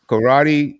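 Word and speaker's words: Coraddi: Now, help me out if I'm pronouncing this wrong. Is it Karate, the college art magazine, Oh, yes, and it's karate.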